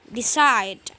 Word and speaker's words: decide: Kemudian verb, kalau dia terdiri dari dua suku kata, maka yang ditekan adalah syllable yang terakhir. Dua suku kata, maka yang ditekan adalah yang terakhirnya. Kayak ini. Di dengan side, dengan for, dengan get. Decide. I decide. Decide.